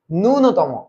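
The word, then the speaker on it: ন্যূনতম: গুচ্ছ এই ইউনিট ননতম ননতম এটার উচ্চারণ ননতম ননতম আচ্ছা আমরা জানি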